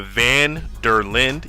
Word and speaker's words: van der Linde: open-world by Rockstar and basically you're following the vanderlin let me make sure I'm pronouncing that correct the van der Linde yeah so they're right look at me the